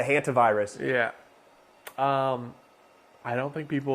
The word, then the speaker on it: hantavirus: The hentai virus? No. How do you say it? That's what I was calling it the other day on our other podcast. The hantavirus.